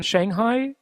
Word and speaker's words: Shanghai: Now, you're in Shanghai, as an American would pronounce it, or Shanghai? Yes, I'm in Shanghai, the business financial capital